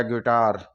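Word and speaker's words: guitar: लिए दे रखा है जी यू आई टी ए आर यहां यू के बाद यहां यू के बाद में वो विल है आई यह वो विल है आई तो हम आई को साइलेंट करते हुए इसकी ध्वनि निकालेंगे तो यह हो गया गिटार गिटार हो गया इसी तरह बी आई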